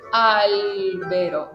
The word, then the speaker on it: albero: Entonces empiezo a entonar la primera albero y caigo.